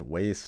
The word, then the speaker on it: WAIS: And also, yes, it's pronounced waist, not Weiss.